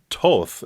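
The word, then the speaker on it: Thoth: so this is pronounced to not th first H is silent so to also known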